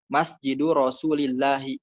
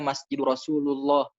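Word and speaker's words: مسجد رسول الله: rasul dibacanya asroh itu masjidil rosulillahi kebanyakan disini salah orang bacanya masjid rasulullah ya gaya pada harusnya masjidil rosulillah nah di situ kan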